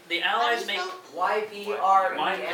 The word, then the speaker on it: Ypres: Now the How do you Allies make spell- YPRES. mine is right on the wall. Right on the wall. Second, Marne Ypres. So 1950. Sorry, Harrison, my back is that way. You just pronounce E.